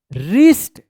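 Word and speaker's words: wrist: वन बॉय हैड अ रिस्ट डब्ल्यू आर आई एस टी रिस्ट ध्यान रखिएगा आर से पहले अगर डब्ल्यू आता है तो डब्ल्यू जो है ना साइलेंट रहता है रिस्ट वॉच डब्ल्यू ए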